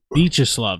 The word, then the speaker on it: Viacheslav: Viacheslav. That's how you say it.